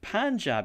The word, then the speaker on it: Punjab: punjab harrison is not punjab is pronounced pronounced like panjab is written punjab yeah if i want